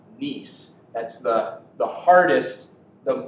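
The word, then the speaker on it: gneiss: then schist and then this is actually pronounced nice that's the the hardest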